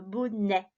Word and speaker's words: bonnet: Et cette fois, j'insiste bien sur le bonnet, on entend « est » et non pas « et » comme dans le mot outil, le bonnet.